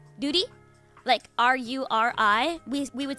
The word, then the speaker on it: Ruri: Tapping means the R's are rolled. So, let me just use a different name. So if the name's like Duty, R-U-R-I, we would say Duty if we're tapping it, and Ruri if we're not.